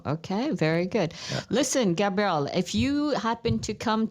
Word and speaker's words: Gabriel: How do you say it? Gabriel? Gabriel. Sí.